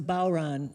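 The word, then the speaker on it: bodhran: the name of that thing again it's a bow run and it's spelled differently it's spelled b-o-d-h-r-a-n but pronounced okay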